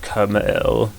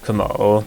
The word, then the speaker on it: Krmal: me, yes, I do know that you actually pronounce it Krmal. I just like saying it Krmal.